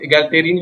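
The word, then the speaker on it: egalitarian: Pronunciation इसका इगैलिटेरियन होगा।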